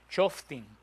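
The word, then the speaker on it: שופטים: En hebreo, Shoftim. Con F, Shoftim, con M al final.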